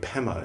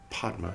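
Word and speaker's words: padma: back and say oh we've been pronouncing it wrong we should say hum instead instead of hung and we should say pemma instead of or we should say pod podma instead of pemma.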